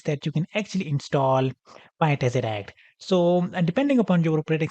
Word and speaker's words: PyTesseract: to install is the PyTesseract module. So it is PyTesseract. So make sure you spell it right. So it is Py and then Tessie and R-A-C-T Ract.